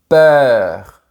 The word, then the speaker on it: peur: Le mot peur se prononce avec la bouche plus verticale. C’est différent du mot "père" qui se prononce avec un grand sourire.